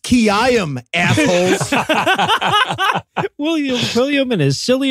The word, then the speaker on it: Quilliam: Most of that guy's life was yelling, it's pronounced Kiyam, assholes.